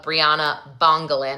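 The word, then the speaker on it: Bryana Bongolan: Okay, so we finished up the direct examination of Briana Bongalin.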